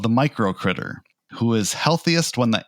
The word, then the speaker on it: uCritAir: This brings me to the micro critter, which is spelled with a U, the micro symbol, ucritair, A-I-R. Air, like...